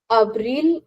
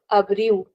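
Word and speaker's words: abril: Abil or abu. In European Portuguese, we'll actually pronounce the L at the end.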